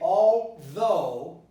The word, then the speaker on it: although: So you say although, though. My students would probably say although, or although. So I have to stress the sound L, right? L, although, and not although.